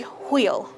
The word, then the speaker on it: Hwyl: And how do you say goodbye in It's going to be Hwyl. Hwyl? Yes. Hwyl. Well, thank you very much in Hwyl.